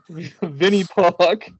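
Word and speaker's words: Винни-Пух: Uh, pronounced as Vinnie, my pardon my Russian, Vinnie Puck stories were made into a celebrated trilogy.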